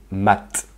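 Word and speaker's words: мать: Maintenant, si on rajoute un signe mou à ce mot-là, mat, ça ramollit la fin du T. Mat.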